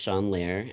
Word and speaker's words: Sean Lare: My name is pronounced Shawn Lair, as OSA said earlier, and I use hehim pronouns.